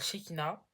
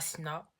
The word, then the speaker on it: Shekina: Alors déjà, moi, je m'appelle Shekina et pas Sina.